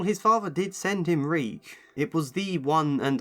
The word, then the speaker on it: Reek: I'm Reek. It rhymes with sneak.